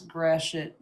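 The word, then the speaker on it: Gratiot: And how many people outside of Michigan can actually pronounce Grashet?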